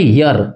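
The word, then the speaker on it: year: ईयर नहीं है ये। यह है यर यर ईयर है।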